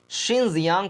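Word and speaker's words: Xinjiang: इस देश China country में एक प्रांत है जिसका नाम है शिनजियांग, जिसका नाम है, ये नाम है, स्पेलिंग देखिए, जिनजियांग बोले या शिनजियांग, शिनजियांग प्रांत, जो कि भारत के जम्मू कश्मीर वाले हिस्से से भी लगता है।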